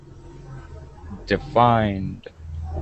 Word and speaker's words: defined: there it is defined defined okay and this has an ed ending that feels like a or that sounds like a d defined okay okay good thank you